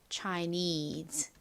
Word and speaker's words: Chinese: e 그래서 연결해 보면 Chinese 됩니다 Chinese 따라해 보세요 Chinese 한 번 더 해 볼게요 끝부분 need 부분에 강세를 주시면 됩니다 Chinese 중국 음식을 영어로